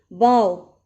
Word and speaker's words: bow: You can see bow rhyming with go, and here is also written bow rhyming with now.